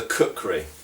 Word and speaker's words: kukri: long time actually is our good old friend the cooker okay um cooker uh can be spelled various different ways in um in Old sources um but usually uh in in Modern English it's spelled k u k r i um and it is